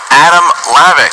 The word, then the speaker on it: Hlavac: here Christian very exciting just don't say the H alright here we go